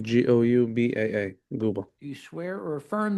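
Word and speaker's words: Goubaa: Guba.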